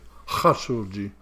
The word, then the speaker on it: Khashoggi: recent thing with the khashoggi dr. Shoji actually hot solji it should be pronounced there there's a few